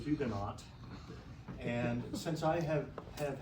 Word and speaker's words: Huguenot: of hugenot which is Hugo and the the actually would say Ugo the French wouldn't pronounce the h or the t uh but the English